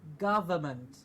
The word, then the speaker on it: government: Now what we have to keep in mind here is the V in the middle to say government.